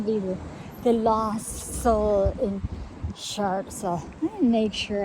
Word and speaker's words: Chartres: to, and it's not Chartres. Every time you tell people as you're going to Chartres, they look like they pronounce it Chartres. The R is silent.